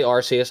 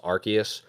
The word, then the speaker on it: Arceus: I say Arceus. I think technically it is pronounced Arceus, but I've always said Arceus.